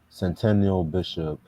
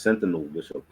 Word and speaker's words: Sentinel Bishop: you know him no you're saying his name wrong it's Sentinel Bishop oh my father busted